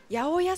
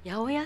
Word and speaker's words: 808: 素敵でねあやおやさんって読むんだこれあやおやさんっていうですはい 808 って言ってやおやっていうアーティストの方で